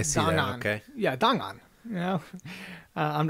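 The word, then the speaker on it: 档案: Yeah, Dang'an. You know, I'm not Chinese. Are you guys, sure so. that that's how it's pronounced?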